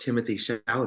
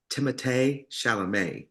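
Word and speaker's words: Timothée Chalamet: uh from rupa's drag race um where they pronounced Timothy sham but they found out that the real way to pronounce it is timate Shalom and it's so hilarious because they tie it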